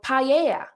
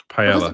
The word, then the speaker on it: paella: So in Spanish they have that dish and it's called paella because that's how they pronounce it. But in English it's paella. Pella. That's no if you pronounce it phonetically in English. Pella. But you don't say it like that because it's paella because it's a different bloody language.